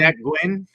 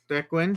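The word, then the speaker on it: Nguyen: This is a 2023 prism, black and white checkerboard prism of Dat Nin or Ninw, how do you pronounce his name? Dwin. Dwin.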